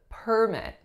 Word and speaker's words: permit: Number 4 is permit. Permit. So because I'm stressing the first syllable, you know I'm referring to the noun form, and the vowel sounds are and I.